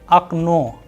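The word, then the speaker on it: окно: Especially in this last word, we have a very different pronunciation. You know why? Because here the role of stress or udareniye is playing a vital role, and clearly the sound is changing.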